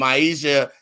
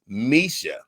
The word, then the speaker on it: Maisha: And Maisha name ain't Maisha. She said, Griff, it's Misha.